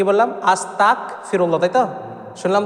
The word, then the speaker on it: আস্তাগফিরুল্লাহ: অর্থাৎ আকার উচ্চারণ হবে বাংলা গ উচ্চারণ হবে আর আরবিতে গাইন উচ্চারণ হবে এই জায়গায় যদি আমরা আস্তাক বলি মানে আকার ক